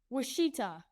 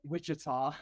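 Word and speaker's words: Wichita: Washita, if that's how you pronounce it. Is that how you pronounce it? Witchita. Witchita. Oh, I screwed it. Witchita.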